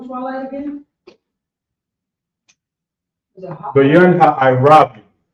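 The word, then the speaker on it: בין הערבים: So, how you pronounce Twilight again? Is it hot? Bayan Ha'irabium. Say that one more time. I can't hear it. Bayan Ha'irabium.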